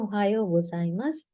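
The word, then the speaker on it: おはようございます: නම් good morning කියන ohayou gozaimasu එහෙම නැත්නම් ohayou.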